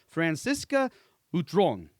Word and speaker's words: Francisca Butron: Hey everyone and we're back and today with us I have Franciscoca Utron. Did Did I Did I nail that pronunciation right?